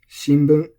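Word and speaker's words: 新聞: So, shinbun, this is flat.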